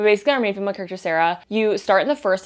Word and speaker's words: Sera: Like we have like Clementine, Albert, Sarah, but it's spelled S-E-R-A, kind of like Serafina or like Que Sera, which is just like really fun.